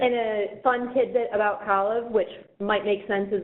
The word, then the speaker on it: Kalev: And it's my pleasure to introduce Kalev. If you've never met Kalev before, you can remember how to pronounce his name. It rhymes with olive.